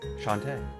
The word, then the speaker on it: Shantae: literally said it like the way Shantae says. Shantae. That's how it's pronounced.